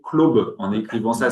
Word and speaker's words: club: encore à ce moment-là qu'il faut le prononcer clobe en écrivant ça C L O B parce qu'en fait on sait pas trop.